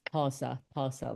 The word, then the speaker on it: Xhosa: It's spelled Xhosa, and it's pronounced Xhosa like that.